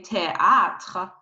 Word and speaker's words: théâtre: You need to pronounce, you need to cancel ash. So you say théâtre, théâtre.